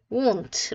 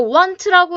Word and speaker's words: won't: will not은 이렇게 줄여 쓸 수 있고 발음은 won't 라고 얘기를 해줍니다. 가끔 이거 want라고 해서 막 발음 이렇게 하면서 원하다랑 착각하는 친구들도 있어요. 전혀 달라요. 아니에요.